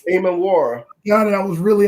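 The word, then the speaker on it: Emmanwori: How you pronounce the last name? Nick Eamon-Wari. Eamon-Wari.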